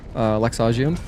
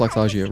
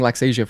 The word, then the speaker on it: Laxasia: I'm pretty sure it's pronounced Laxagia, right? Because I finished my playthrough recently, my second playthrough, and I did actually watch the cutscenes, and she says Laxagia, I believe. But in my head, I was saying Laxasia for some reason. But no, that's not how they say it in the game.